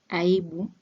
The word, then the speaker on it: aibu: Another example is aibu, meaning shy or shyness. It is aibu, 3 syllables.